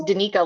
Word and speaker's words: Danica: It's Danica, like Danita. Yeah. Like like that's the unit, Danica and Danita.